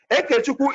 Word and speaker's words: Ekechukwu: Ekechukwu is spelled E-K-E, not I, E-K-E.